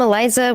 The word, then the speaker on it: Elyzah: from Liza so um I'm Eliza with an H the like Sarah the H is silent um so it's not